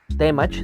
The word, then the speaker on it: Temach: Y otra cosa es la pronunciación correcta que es Temach, no temach. ¿Y a qué se debe esto? En español las palabras tienen tendencia a ser agudas.